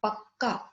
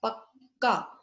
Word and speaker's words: पक्का: तो यहाँ प्रेस करके हम आधा जो है उस पर थोड़ा रुकते हैं, पक्का, और फिर हम दूसरे वाले लेटर पे, पूरे वाले पे आते हैं। तो लंबा साउंड होगा यहाँ पर।